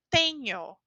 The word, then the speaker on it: tenho: A letra N somada com a letra H, essa letra aqui se chama H em português. Essas 2 letras juntas, nós temos a pronúncia nh, nh. É como a N do espanhol. Então eu digo tenho. Eu tenho 28 anos.